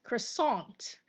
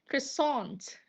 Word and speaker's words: croissant: Uh this is quasant with stress on tissant and some of them uh pronouncing it as croissant. Croissant.